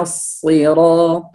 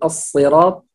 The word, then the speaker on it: الصراط: اللام هنا شمسية، فنقول الصراط. أيضا الصاد هنا هو من حروف التفخيم، فلا نقول الصراط، لا هذا سين، لابد أن نقول الصراط، والصاد هنا من حروف التفخيم، وهو هنا مكسور فهو حرف مفخم.